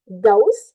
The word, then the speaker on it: goes: to make sure that we pronounce goes, okay? Instead of go, right? It must end with the sound of the letter Z, okay?